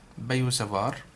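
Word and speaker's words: Biot–Savart: تي لا تلفظ، بايو سافار بهذا الشكل.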